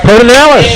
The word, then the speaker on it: Pedernales: That's right, Pedernales.